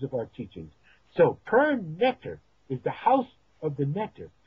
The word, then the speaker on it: Neter: So we pronounce it now N-E-T-E-R, but it's actually just written NTR, Neter.